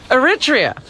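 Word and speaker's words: Eritrea: Zabiva, how do you pronounce that country, Robin? Aritria.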